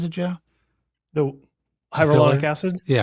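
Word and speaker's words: hyaluronic: You know the thing about uh hyonolaric how do you pronounce it Joe? the hyrolonic acid.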